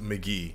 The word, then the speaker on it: Mk.gee: we finally got McGee's first album pronounced McGee now McGee has you